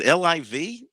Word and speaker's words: LIV: play in the uh they pronounce it liv the liv golf invitational